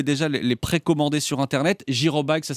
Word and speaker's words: Jyrobike: ans vous pouvez déjà les précommander sur Internet girobike ça s'écrit j y r o B i k